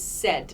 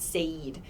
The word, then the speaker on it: said: this verb becomes said the pronunciation is said not sayed said so the spelling is